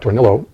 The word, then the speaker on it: Tornillo: and the the politician the candidate was Pat Tornillo so he pronounced it who was running for the Florida